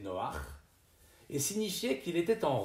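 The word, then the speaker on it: נֹחַ: y eut l'homme triste qui en français porte le nom de Noé il se souvenait du premier maître du bateau un jour il s'interrogea sur son nom qui en hébreu se prononcer Noah et signifier qu'il était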